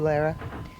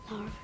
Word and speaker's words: Lara: How old are you, Lara? Laura. Laura. But it's spelled L-A-R-A. It's a pretty way of writing it.